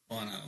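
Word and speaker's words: Bonneau: Bono like that's right like YouTube. Yes. Pronounce like that. Bono Beach.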